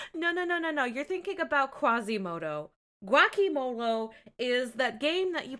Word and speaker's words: guacamole: Where to put the Glocky Molo? Ugh. Guacamole! Guacamole! Guacamole! His fucking face! This just fucking psychic damage to your nachos. God, again, a room full of grown adults just consistently mispronouncing a word with it fucking written down on paper in front of them. Just fucking sound it out phonetically. It's not that hard.